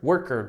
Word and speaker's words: worker: Porque muita gente pronuncia worker, driver, cooker. Não, é tá? Você fala worker, driver, cooker, player, freezer, killer, hunter, smoker, founder, winner, loser, cleaner, né? Dessa maneira aqui, tá?